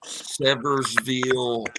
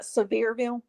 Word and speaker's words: Sevierville: uh did you know they found remains in seversville on August 23rd are you talking about Sevierville so is that how you say it yeah